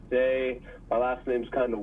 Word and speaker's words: Seay: but it's say my last name's kind of weird but it's spell s a y it's French I know it's kind of weird but pronounced say SE a y but say